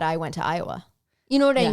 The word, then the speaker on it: Iowa: it's IOWA, but I would assume that the I is silent, so I would call it Awa, which is probably not right.